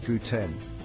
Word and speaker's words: guten: The first word is guten. It sounds like the English word gluten but with a g sound at the beginning. Say guten.